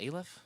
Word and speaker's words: Aleph: Aleph. Aleph. Okay, we'll say that. This rhymes with bailiff.